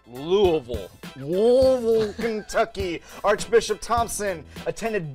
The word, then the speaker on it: Louisville: fans born and raised in Louisville Kentucky it's pronounced Louisville wool Kentucky Archbishop Thompson attended Bellarmine college and